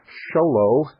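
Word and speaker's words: Show Low: post office box 1420 sholo Arizona sholo is spelled exactly like it sounds two words show and Low sholo Arizona 859 901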